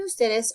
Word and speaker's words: ustedes: As you might have noticed, usted and ustedes are very often abbreviated to capital U, lowercase d period, and capital U, des period. Okay, still going to be pronounced usted and ustedes.